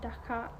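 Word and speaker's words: dhagax: of somalia they say dhaka with x at the end which is pronounced as h but in our final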